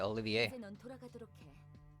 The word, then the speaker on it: Olivier: a long time oh she pronounced it Olivier Olivier you can go back